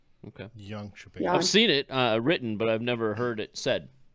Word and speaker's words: Jönköping: But honestly, like in Sweden when we were there for the Junior World in 2022 in Jönköping Curling Club, like that was just a really cool facility.